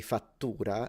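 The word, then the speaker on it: fattura: exactly the same factura so if you remove the C as Italian simplified CT from Latin into a Double T and you say fatura it actually means invoice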